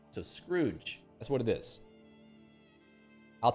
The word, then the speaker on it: Scrooge: lot of fun yeah screws it's not scrots it's Scrooge because TZ or letters t